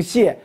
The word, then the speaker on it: 解: 你不能人姑娘姓谢，你得叫人小谢，你不能跟人叫小姐，你这就不合适了。发音的时候他就发这个音，他读姓